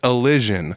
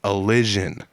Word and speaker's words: Elision: But it is Elision for everyone that needs to know how to pronounce it. If you say, how do I pronounce that? It is Elision. That's how you pronounce it.